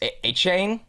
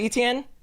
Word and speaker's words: Etienne: His the real pronunciation, I believe it's the Cajun way, is A-Chain. A-Chain? You know this with ETN?